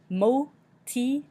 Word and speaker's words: motivation: Motivation, motivation, motivation. Again, we have that I in between the T and the V that sounds like E, moti, and then we end with the sion sound at the end.